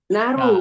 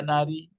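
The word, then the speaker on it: نار: Naru. Nah, Naru. naru. Itu maka naru, nggak boleh dibaca nari. Tidak boleh nara.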